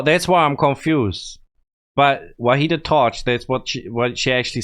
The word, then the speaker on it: وحید تاج: I think people told me I said his name wrong. So that's why I'm confused. But Vahid Taj, that's what she actually said right here.